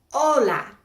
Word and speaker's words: hola: The H is always silent. It's not like H. Like, look over here quick. Hola. We don't pronounce the H.